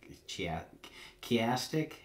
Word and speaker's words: chiastic: this this stochastic or I'm sorry that's uh chiastic you know for the longest time I was